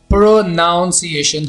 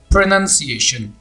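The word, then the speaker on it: pronunciation: तलाकश किया जाता है इसको बोला जाता है प्रोनॉन्सिएशन हालांकि ये प्रोनाउंसीएशन नहीं है ये शब्द ऐसे हैं प्रनंसीएशन प्रनंसीएशन तो यहां पर दो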